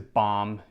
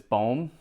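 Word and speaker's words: Bohm: awesome great start next up i even practice his name i know everybody says bomb it's not bomb i believe it's bomb alec bowm psa 10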